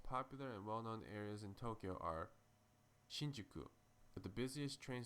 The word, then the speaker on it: Tokyo: long vow sounds in Japanese Tokyo is actually pronounced Tokyo did you also know that Tokyo is the